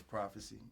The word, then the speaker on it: PRAFESE: My name is PRAFESE. It's spelled PRAFESE.